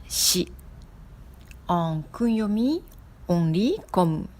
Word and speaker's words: 四: En onyomi, on lit comme shi.